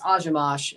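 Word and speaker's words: Akhomach: So, yeah, that's how somebody said it's actually pronounced. Ilyas Ajimash is actually how it's pronounced.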